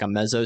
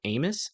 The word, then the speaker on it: Ames: But that's not going to be until we get to Amos. I think that's how you say it. Ames? Is it Ames or Amos? Ames? Is that right? I don't think that's right. Let me double check. No, Adair. Sorry. Ames. Gotcha.